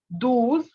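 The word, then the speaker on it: douze: so 11 is owns very good 12 is dues 13 trills 14 kators 15 can fifth now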